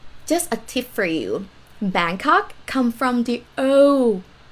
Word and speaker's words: Bangkok: a tip for you bangkok come from the oh name naga of grundy we call it bang go in the past and foreign probably come in like cannot pronounce banggo they say bangkok bangkok right but now ha